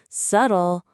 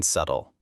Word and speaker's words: subtle: Words like night, honest, right, thumb, subtle often confuse learners. I always pronounce the K in night and the B in subtle. Perfect!